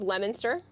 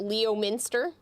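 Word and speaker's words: Leominster: Uh, this is Lemonster. It is not Leo Minster. If you pronounce it Leo Minster, you're going to be ridiculed. So, it's Lemonster.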